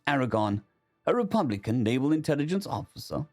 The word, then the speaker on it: 4R490RN: The team was led by 4R490RN pronounced Aragon, a Republican naval intelligence